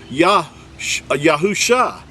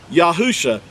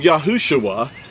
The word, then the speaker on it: Yahusha: He changed it to Yahusha. All he did was add the letter of the Creator's name, the first letter of the Creator's name, the letter Yod, and then Husha became Yahusha. Do you see that? Yahusha. He didn't become Yahushua. There was no UA added in this text here.